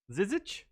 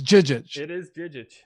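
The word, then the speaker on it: Žižić: You refuse to pronounce the Z's as J's. My apologies. Yeah, again, it's not Naruto, man. Phenomenal scene from an excellent movie. Are we positive they're J's? It's Jijic.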